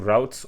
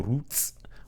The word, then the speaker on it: routes: to go back to routes or roots or however you pronounce it whether um you like British English or American English and what we want to do here is just say router.